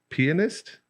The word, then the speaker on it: pianist: today because your other thing was your a pianist that's how you say it i really want